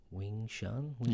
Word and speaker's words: Wing Chun: So you do, and I always stuff up the pronunciation of this. Your main one, which is Wing Chun?